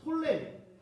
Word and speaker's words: 톨레미: 리시마쿠스, 그리고 카산더, 그리고 톨레미. 이게 역사에 보면 뭐 프톨레마이오스 말이었는데 그냥 톨레미라고 할게요. 묵음이라서요.